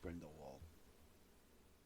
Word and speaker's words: Grindelwald: It's pronounced Grindelwald.